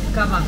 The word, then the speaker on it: kava: Kava.